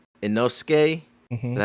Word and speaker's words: Inosuke: that whole little joke with what's his name, Inosuke.